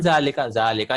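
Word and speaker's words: ذٰلِكَ: zalika is pronounced as zalika. देखिए इसको पढ़ते हैं zalika लेकिन ऐसे लिखा जाता है क्योंकि सहाबा ने ऐसे लिखा, ज़ालिका ऐसे लिखा था.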